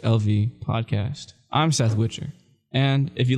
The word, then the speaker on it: Witcher: on YouTube just Seth Witcher and that too which with the broomstick er so WI TCH er I can't tell you